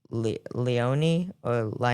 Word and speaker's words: Leone: featuring Fabio Leone, Rhapsody, Leone, I believe that's how you say to pronounce this with that E on the end.